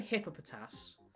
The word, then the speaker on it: Hippopotas: Hipp people say hippopotas like hippo hippopotus is the same hippo pronunciation.